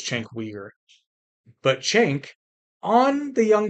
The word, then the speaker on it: Cenk Uygur: I've heard different pronunciations. I believe it's Cenk Uygur.